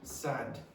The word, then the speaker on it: sad: So if the vowel sound happens before a voiced consonant, a consonant which is vibrating, that's usually longer. That is before an unvoiced, there's no vibration here. That's usually quicker.